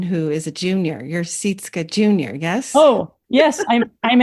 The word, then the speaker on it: Sytske: like you're taking a. Yep, that's right. Sytske.